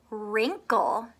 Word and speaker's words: wrinkle: knuckles on your hand and wrinkle can you hear a w No fine with me